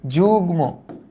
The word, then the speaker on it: যুগ্ম: হইছে আমাদের এই দেখো গ এর সাথে যদি ম থাকে তাহলে ম এর উচ্চারণটা বহাল থাকে তার মানে এটার উচ্চারিত রূপ হবে যুগ্ম যুগ্ম আর এটা কি হবে